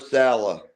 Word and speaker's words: Saleh: Robert Saleh.